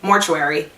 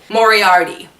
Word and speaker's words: Moriarty: lies by land more mortuary on how to say her last name mortuary that's really not a good last name Moriarty that's Leanne Moriarty and it's married by